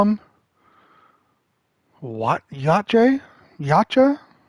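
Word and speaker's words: Yautja: Yachae. How do they pronounce that? Yacha. Yeah, Yawucha is how it's pronounced through the fandom websites.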